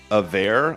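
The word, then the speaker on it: Averre: Avere, I guess is the pronunciation. A-V-E-R-R-E.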